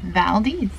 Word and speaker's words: Valdez: of four brand new ports on this itinerary Valdes that's how you say it yeah that's right Valdes we we ask for a pronunciation cuz you know you could say Valdes